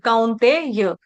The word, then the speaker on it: कौन्तेय: में संबोधित कर रहे हैं, कौन्तेय, कौन्तेय कौ, कौन्तेय, कौन्तेय ते ते ते, कौन्तेय य, हाँ, अभी ठीक है, कौन्तेय।